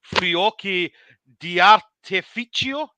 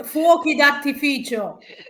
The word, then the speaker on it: fuochi d'artificio: On Saturday night, there's going to be Fiocchi di Artificio. Is that, am I saying it right? So on Saturday, fuochi d'artificio.